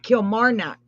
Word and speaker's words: Kilmarnock: And he is from Kilmarnock. Is that how you say it? Kilmarnock.